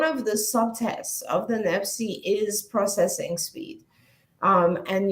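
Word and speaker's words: NEPSY: have them to administer a test called the nepsi n-e-p-s-y-e is spelled in a weird way and this test one of the subtests of the nepsi is processing speed um and you'll learn very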